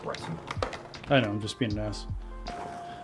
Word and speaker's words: Breton: No, that is pronounced Breton.